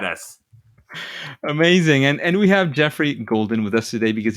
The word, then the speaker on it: Geoffrey: Geoffrey is how it's pronounced.